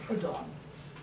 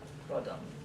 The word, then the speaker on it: Proudhon: In his work, there's a person named Proudhon. I'm probably pronouncing his name wrong. Proudhon. Proudhon. How would you pronounce this? Proudhon.